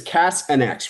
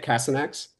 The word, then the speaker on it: CasNx: It's it's Cass and X, right? That's how you say it. Cassin X.